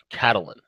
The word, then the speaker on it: Catalan: And see, you got to say it like a true Spanish person. Catalan. Catalonian. You sound like a gringo. Catalan.